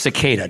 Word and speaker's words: cicada: It's pronounced cicada, just so you know.